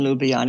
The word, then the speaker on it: Ljubljana: I have a very good friend in Ljubljana, as a matter of fact. Thank you for pronouncing it correctly.